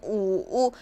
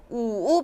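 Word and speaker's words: 五: 산 4는 쓰 우는 우우 여기까지는 똑같아요 거의 되게 비슷하죠 우우 발음할 때는 약간 외부를 타듯이 우우 하시면 되세요 자은 발음이 어떻게 될까요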